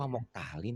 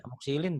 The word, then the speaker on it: Amoxilin: Jadi kalau kok amoktalin sih? Amoxilin, Pak, bukan amoktalin gitu.